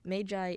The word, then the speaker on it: Magi: of Shinobu o Takas Magi the labyrinth of magic now before anybody asks the word that is spelled ma GI is supposed to be pronounced Magi but this is a really weird case where apparently mage eye is the plural form of the word Magus